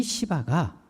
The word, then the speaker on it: 시바: 바로 시바였습니다. 발음을 잘 하셔야 됩니다. 사울의 모든 재산을 다 도맡아 관리하던 이 시바가 무비보셋의 소재를 알려주었습니다.